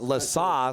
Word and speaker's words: Lesa: Sounds like the PA guy pronounced it Lesa, so I'll try to adjust to that.